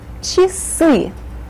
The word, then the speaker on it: часы: Часы. With the accent here on the second syllable.